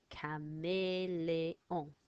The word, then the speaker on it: caméléon: So we've got a, e, on, and those are all in the word for chameleon. So we go k, a, m, e, l, e, on.